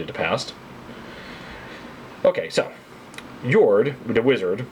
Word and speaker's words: Jord: Jord, the wizard, I'm assuming the pronunciation is Scandinavian, J O R D.